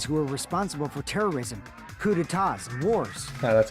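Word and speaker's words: coups d'état: hearing that they're dangerous guys who are responsible for terrorism, coups d'etats, and wars.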